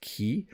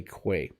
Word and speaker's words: quay: the first one wrong i think it's supposed to be pronounced key but i actually say quay so you can check